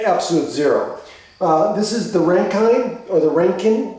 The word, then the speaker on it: Rankine: zero this is the rankine or the ranking the ranking i think it's pronounced rankin measurement so this is